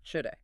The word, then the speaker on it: shoulda: shoulda. SHOULDA. Now, does this one feel different to you phonetically? It does, actually. It starts with that soft but forceful sound. Shh. It's a very distinct starting point.